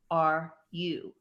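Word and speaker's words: 惚れる: And the word for to fall in love or secret love is Horeru. Poor are you? So the word for spinach, would you pronounce it horenso?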